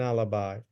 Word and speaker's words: alibi: very well very well that that is an alibi be careful for the pronunciation be careful of the pronunciation is Alibi